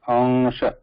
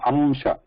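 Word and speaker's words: अंश: So it is pronounced ansha. Note that there is no amsha. There is no amsha. It should not be pronounced with ma in between. Okay? This is not correct.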